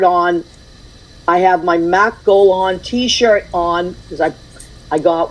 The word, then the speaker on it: Gollehon: Mac is it Gollehon? Did I say it right? Okay, that's how I've been pronouncing it.